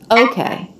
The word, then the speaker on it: okay: hockey okay okay okay this is a word that can have first syllable stress okay or second syllable stress okay she's doing second it's okay it's okay